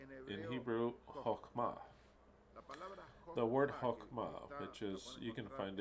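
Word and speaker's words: חכמה: The word Chokhmah, which is, you can find it in the Strong's Dictionary, H2451, and it's pronounced Chokhmah.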